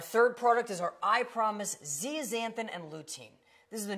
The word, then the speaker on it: zeaxanthin: It is zeaxanthin. It's up there phonetically for you because I know that it's a tough one to look at and be able to say.